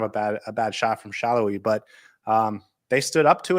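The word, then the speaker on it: Salloi: away to Daniel Shallowy, whose name is pronounced Shallowy, even though it looks like Saloy.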